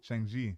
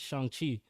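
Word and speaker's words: Shang-Chi: theaters oh yeah shang shang what shang hoo shang ji no you're saying it wrong man it's shang qi let's not get cats but yeah yeah you've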